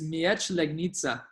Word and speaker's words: Miedź Legnica: It's Miedź Legnica.